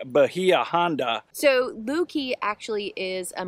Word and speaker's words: Bahia Honda: and I'm super excited yeah we're at the Bahia Honda state park I think that's how you say